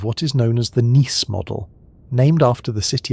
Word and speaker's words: Nice: This became especially influential through versions of what is known as the Niss model, named after the city of Nice in France, where some of the researchers worked. It is pronounced like the city.